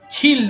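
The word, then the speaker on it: kill: খিল মানে হত্যা করা। দেখেন আমি কিন্তু ক বলছি না, খ বলতেছি। সো যখন কে পাবেন তখন সেটাকে অবশ্যই খে উচ্চারণ করবেন।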